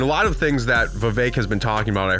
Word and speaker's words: Vivek: another thing about uh Vivek everyone who hates him says his name correctly and everyone who likes him uh does not say his name correctly they keep saying Vivek Vivek like cake he said it himself